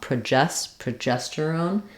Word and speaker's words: progesterone: testosterone same thing happens in progesterone second syllable stress so not pro I don't need a clear vowel there but rather PR with awah progesterone um I'm going to hear that and be able to do that more easily if I start with the stress syllable jesterone progesterone progesterone so be careful with